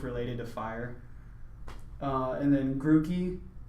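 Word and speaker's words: Grookey: to fire and then grew key I believe it's pronounced goo because there's two O's you're grouchy mmm guru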